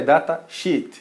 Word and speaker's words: data sheet: é verdade né então é a pronúncia é data sheet então presta muita atenção